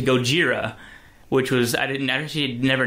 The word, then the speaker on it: Gojira: was they kept calling Godzilla Godzilla, and then when the reporter had a report stolen, she corrected him to Gojira, which was I actually never noticed that at first.